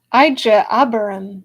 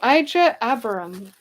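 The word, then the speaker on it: Ijeabarim: How to pronounce Ijebarim. Ijebarim. Ijebarim. Ijebarim. Ijebarim. Ijebarim. Ijebarim. All right, I got it, Trevor. Thank you. Okay, Ijebarim.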